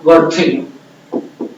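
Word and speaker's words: Berthelot: T silent है बच्चों कि उसका क्या नाम था, बर्थेलो।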